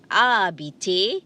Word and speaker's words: habiter: Please remember, the H is silent, so you don't say habiter, you say habiter, to live or to stay.